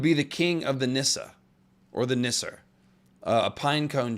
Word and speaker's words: Nissa: it very well with Nissa the E on the end uh makes a sort of e sound that's best represented in English by just making the ah sound so plural form would